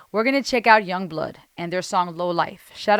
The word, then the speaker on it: Yungblud: And it's pronounced Yungblud, but it's spelled Young with U-N-G, blood, B-L-U-D.